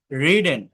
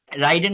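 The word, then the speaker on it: ridden: mistaken রাইড road রিডেন রাইডেন বলবেন না অনেকে রাইডেন বলে রাইডেন হয় না রাইডেন বলে ড্রাইভেন বলে রাইটেন বলে ডবলিউ আরইটি রিটেন ডি আর আইভিন ড্রিভেন আর I didn't এটা রাইডেন না আমি আবারও বলছি রিডেন রিডেন এটা এটা খেয়াল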